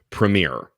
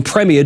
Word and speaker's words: Premier: huge fan of the brand Premiere it's how Americans say it let's hear the British uh pronunciation with a gentleman